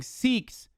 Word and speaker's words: Sikh: why were the Sikh communities the ones that got fucking harmed the most in certain circumstances? They're not Muslim. Pronounced it like sick, bro.